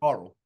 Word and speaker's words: Coral: Yeah, you can't You know, forget Coral. yeah, how do you get it? Yeah, rhymes with quarrel.